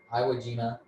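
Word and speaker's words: Iwo Jima: Midway then they came back to I it's pronounced Iowa Iowa gima and they sort of went through all these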